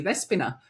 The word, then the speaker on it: Despina: And thank you for saying my name correctly, Despina, which is the Greek way of saying it, isn't it? It is the Greek way, yes.